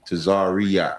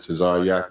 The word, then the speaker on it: Tazaryach: They usually say Tazaryach. There's no E in my name. It's just Tazaryach.